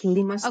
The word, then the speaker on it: Limassol: Now, your practice, Kiki, is in a city, is it called Limassol? Is that how you say it? Limassol? Yes, that's correct. It's Limassol.